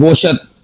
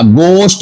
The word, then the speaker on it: گوشت: اور اسی طور پر ہم کہہ دیتے ہیں گوشت، گوشت نہیں ہوتا، گوشت ہوتا ہے، شین بھی ساکن، تے بھی ساکن۔ دوست، ہم کہہ دیتے